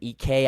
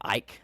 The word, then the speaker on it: Ike: Um, Graham EK, I got scolded on TikTok for calling him Graham Ike.